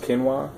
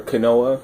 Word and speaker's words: quinoa: for uh foods like quinoa uh it's actually pronounced kinoa or kenoa some people say you got the chia